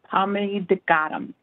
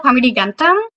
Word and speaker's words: Pamidigantam: Pamidigadam. I know I butchered that. Hi, yes, it's Pamidigantam.